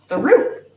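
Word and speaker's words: roux: Rue that's spelled differently Rue is a French word so r-o-u X is the one we're talking about in the in the soup and Rue is Roo okay kangaroo that is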